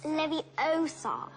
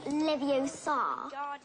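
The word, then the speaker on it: Leviosa: I can totally relate you're saying it wrong it's Levy Oar not Levar you do it then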